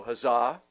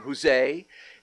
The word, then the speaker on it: huzzah: spelled hu ZZ a there's some dispute as to how that is pronounced some folks go huzzah some people claim Jose and I have seen